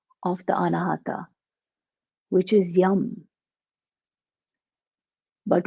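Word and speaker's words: yam: the anahata which is yum but when we produce that sound at the vaikari level the level that can be heard it is pronounced as young with a g so we just chant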